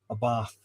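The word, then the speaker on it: Abarth: This is Mia Abath 695. I'll pronounce it correctly for our Italian friends.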